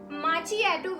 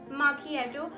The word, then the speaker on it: macchiato: People pronounce it as macchiato, which is wrong. H is silent here. It's macchiato. I hope guys इन तीनों में जो difference है वो आप लोगों को clear हो गया.